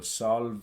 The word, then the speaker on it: salve: One note on those, the ending, you want to avoid diphthongs as usual. So salve, you want to avoid that and just pronounce it as salve.